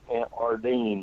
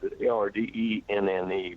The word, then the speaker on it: Ardenne: Manfred von Ardenne, that's the way I pronounce it. Ardenne, Manfred von Ardenne.